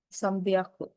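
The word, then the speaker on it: さんびゃく: 300 sambiaku. 300 ya. Sambiaku. Sam. N itu ada tiga cara pengucapan N, ang, em. Untuk 300 dia pakainya sam.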